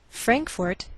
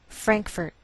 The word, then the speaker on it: Frankfort: Frankfort, Kentucky. Now some Americans may change the second syllable of the capital, and you may hear Frankfurt.